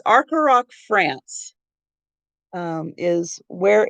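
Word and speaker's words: Arcoroc: And it's the name I have a hard time pronouncing. Arcaroc, it's Arcaroc, France, is where it's made.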